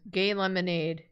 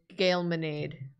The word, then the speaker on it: Gay Lemonade: It was the first time watching Secret Sleepover Society, and their name was Gay Lemonade, and Jacob decided to pronounce it as Gailmanade. Gailmanade. I thought it was Gailmanade. Common mistake. I felt so stupid when I realized.